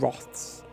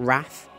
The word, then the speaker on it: Wroth: Horusk the Thousand Wroths. In English, we pronounce it Wroth, not Wrath.